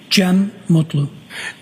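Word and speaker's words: Cem Mutlu: Jim Mutlu.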